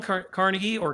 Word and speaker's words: Carnegie: Like Dale Carnegie, or Carnegie, depending on how you want to pronounce it, he actually nails it.